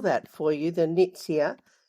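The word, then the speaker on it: Nuytsia: exist anymore um it's a beautiful tree called nits here and um I I'll just spell that for you the nits here n u y TS I a flora bunder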